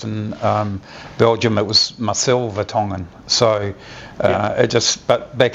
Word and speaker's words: Vertongen: so they started saying Vertogen, so it is correctly pronounced Vertongen. It's a it's a Belgian name and uh and you